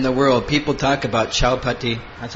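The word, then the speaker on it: Chowpatty: not everywhere in the world people talk about Chao Pati that's how you say it devotees and usually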